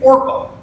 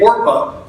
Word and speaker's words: Orpah: One of them's married to Ruth, and the other one is named Orpah. Her daughter-in-law, Orpah. Now, fun fact about the name Orpah, the woman that you all know as Oprah actually was originally named Orpah.